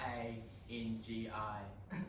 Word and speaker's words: Rangi: It's pronounced Rangi. What? R-A-N-G-I.